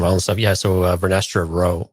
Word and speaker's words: Rowe: Yeah, so Vernestra Rowe, is that how we pronounce her? R-W-O-H, Yep, Rowe. Rowe. Mm-hmm.